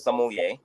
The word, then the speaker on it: sommelier: say it oh the the correct predication is sommelier uh it's basically a a a wine steward